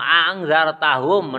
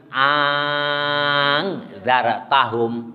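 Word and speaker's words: أأنذرتهم: Ayo, kalau yang pertama kan tahqiq, jelas, a'angzar. Hamzah yang kedua diganti dengan alif, berarti a'angzar. Jadi A-nya jadi panjang kan, karena alif. Hamzah terus alif. A'angzar. Jelas bedanya? Yang pertama orang Indonesia Imam Hafaz a'angzar. Yang kedua cara membacanya a'angzar.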